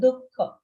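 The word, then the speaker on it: दुःख: Make sure you pronounce it with a visarga, dukkha.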